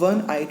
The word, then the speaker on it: one-eyed: of one-eyed man Dom it starts with a vowel o however it does not produce the sound of any vowel it's pronunciation is one here it produces sound off one though a consonant therefore we cannot use